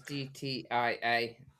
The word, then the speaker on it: GTIA: Yeah, that is the official pronunciation for it. We got told off for calling it Gitia. But it's an inefficient pronunciation of it. Tomato, tomato. Yeah. No right answer. Well, there is, apparently. There's an official way, which is GTIA.